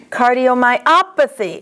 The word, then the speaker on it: cardiomyopathy: The accent is on op. Cardiomyopathy.